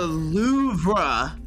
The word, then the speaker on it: Louvre: And it's like an R.